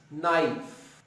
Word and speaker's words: knife: K and N, in which K is silent and we make the sound of N. Here are the examples: knife, night, knowledge, knives, knock, knee, and no.